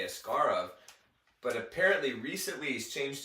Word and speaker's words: Askarov: debated about asaro's name supposedly the right way to say it in Russian would be yaroslav escar and when he first came here he was correcting people they he wanted the media to say ascar of but apparently recently he's